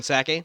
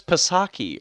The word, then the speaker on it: Psaki: He goes, I thought it was Pasaki, or isn't it with a P? How do you spell it? It is with a P, but the P is silent like pterodactyl.